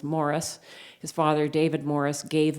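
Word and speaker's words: Morrice: issues of displacement because we pronounce his name Maurice because he comes from Quebec but actually his name was Morris his father David Morris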